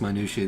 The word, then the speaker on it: minutiae: Because we were just diving into this minutiae that is How do you pronounce that? Some people say minutia. Minutia. I say minutia. Minutia. It's probably wrong.